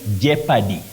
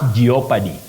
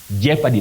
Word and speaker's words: jeopardy: Thomas Kam of Neri you say Jeopardy not geopard Jeopardy that o is silent